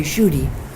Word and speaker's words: Kshudy: and he calls me cootie the Bengali pronunciation because my name in Sanskrit is pronounced Judy in English they say shootie and bengali they say cootie so he said that